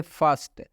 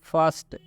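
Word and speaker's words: first: से लिखा गया है इस आर का उच्चारण नहीं किया जा रहा है। आप सुन सकते हैं फर्स्ट, हिंदी में भी स्पष्ट यहाँ पे लिख दिया गया है फर्स्ट।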